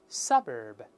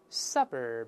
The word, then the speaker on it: suburb: 在前面，大声里面 suburb, suburb, 好记了，这叫郊区